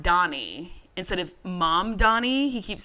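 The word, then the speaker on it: Mamdani: And then he says, also, it's mom Donnie, and if I were you, I would learn how to say it.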